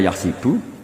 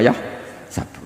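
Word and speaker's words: يحسب: Karena dalam qiraat sab'a ada yang baca yahsibu, qiraat kita baca yahsabu. Tapi guru-guru kita kalau ngajar fikih itu bacanya yahsibu. Tapi kalau baca Quran yahsabu.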